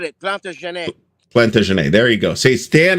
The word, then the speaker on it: Plantagenet: Dan, how do you pronounce the name of that game? The way you said it, Plantagenet. Plantagenet.